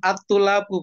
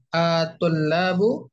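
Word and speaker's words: الطلاب: Jangan atulabu bacanya, berarti seolah-olah ada alif lam. A ya, A-nya itu A pertanyaan, bukan alif lam. At-tullabu ikhwatuka.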